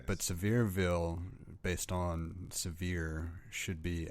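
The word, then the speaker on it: Sevierville: I like the choice of pronunciation there. Severeville. Yeah. I mean, I know that's how they say it, but it just it's I don't know why. It's Severville.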